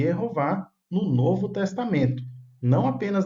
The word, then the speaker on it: Jeová: Assim disse Jesus, para que nós possamos amar a Jehová Elohinová em hebraico, Jeová é a pronúncia em português.